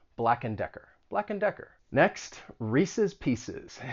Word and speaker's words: Reese's Pieces: black and decker next reese's pieces it's a well-known candy and both of those words end in siz reese's pieces and it